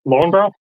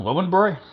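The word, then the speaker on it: Löwenbräu: Lowenbrow? I believe it's supposed to be pronounced Lowenbroy.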